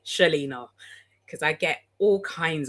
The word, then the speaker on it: Chelena: Like Helina, but with a C. Shellina because I get all kinds of pronunciations.